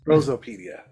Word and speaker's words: Prosopaedia: Did I pronounce that correctly? A Prosopaedia. Prosopaedia.